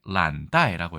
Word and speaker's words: 懶怠: 대신 발음이 좀 특이한데요. 이걸 나태라고 하면 라랑 비슷해야 되는데 란다이라고 해서 이것을 란으로 읽는다라고 했으니까 아까 이 글자의 란과 어떻게 보면 통한다고 볼 수도 있을 것 같습니다.